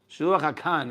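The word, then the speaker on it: שילוח הקן: Shiluach hakan is the right way to say it, and kibud avayim is arichut yamim.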